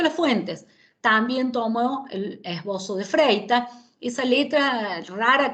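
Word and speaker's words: Esboço: patita, la C cediña, es una letra portuguesa que se pronuncia como la Z nuestra, por eso lo pronunciamos como esbozo y no como esboco.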